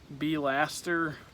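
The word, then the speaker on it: B'laster: It's actually pronounced B-laster, pb. There's an apostrophe right here.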